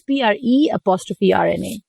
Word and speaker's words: Prerna: It's PRE''RNA. Prerna. So the enunciation is at the A, Prerna.